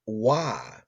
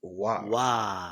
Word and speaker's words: Roy: Patrick Wah, Patrick, Roy, but he was always pronounced Wah.